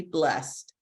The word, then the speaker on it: blessed: seven warm dry truly blessed so she's not doing two syllables for blessed she's just doing the one all right let me